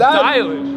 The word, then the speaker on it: Dylan: That's why I said Dylan. Dylan. It's Dylan Edwards. Then that ain't Dylan. Dylan. Dylan Edwards. Dylan Edwards. That might say his name pronounced Dylan. D-Y-L-A-N. That's not Dylan. Told you Dylan.